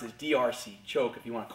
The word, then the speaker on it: D'Arce: choke in some circles they call it a darce choke the actual way it's pronounced is drc choke if you want to call it that